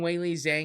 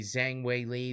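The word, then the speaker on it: Zhang Weili: I kept saying Wei Li Zhang because that's the way they said it in the beginning. I guess somebody corrected the UFC and said no, actually Zhang Wei Li. That's how you say it from where she's from in China or whatnot.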